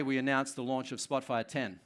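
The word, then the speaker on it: Spotfire X: announced the launch of Spotfire 10 it's written X but it's pronounced 10 and there's a bunch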